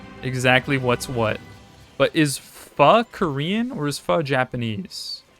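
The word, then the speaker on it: phở: Spelled pho, pronounced pho.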